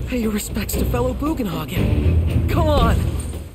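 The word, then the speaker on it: Bugenhagen: your respects to fellow buan hogin come on boan hogen okay I was always pronouncing him bogenhagen in the original you can let them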